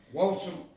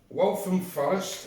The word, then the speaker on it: Waltham Forest: with mike and pam today we'll be brewing walter waltham forest that's how you pronounce it well from forest which is a